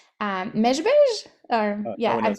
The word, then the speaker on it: Mezhbizh: of, and I'm hoping I'm pronouncing it right, Mezhbizh? Or No yeah, one knows how to pronounce Mezhbizh outside of Ukraine, but yes, Mezhbizh.